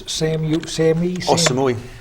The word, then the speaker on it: Samui: How do you pronounce this? Samui.